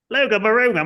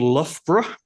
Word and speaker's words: Loughborough: And we worked out eventually it's a town called Loughborough. But because it's borough and it's the OUGH in English, in Australia, that's they pronounce the G's. So it was Loga Baroga.